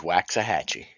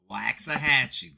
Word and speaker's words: Waxahachie: On another note, it is Waxahachie. Waxahachie.